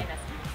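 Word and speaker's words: Ionescu: Can never pronounce her last name, yeah. Inescu.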